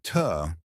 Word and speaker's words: to: To sounds like tuh, and sounds like n, as in rock and roll.